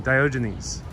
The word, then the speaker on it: Diogenes: Diogenes, that's how one pronounces their name. Diogenes.